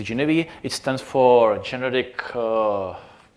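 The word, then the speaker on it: Geneve: so I spoke about genief genev I think the correct pronouncing is Genevieve it stands for generic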